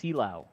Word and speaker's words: Silao: It's pronounced Silao. Silao.